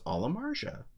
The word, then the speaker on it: Amarja: Look, I asked the designer on Twitter what the correct pronunciation of Amarja was, and he said it was Amarja.